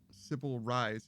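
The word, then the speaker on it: Sybil Reisz: Sybil Rise is how her name is pronounced.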